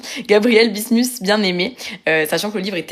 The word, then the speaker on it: Gabriel Bismuth-Bienaimé: donc Gabriel bismus attendez je vous dis le le bon nom avec ma ma bonne prononciation Gabriel bismus Bienaimé sachant que le livre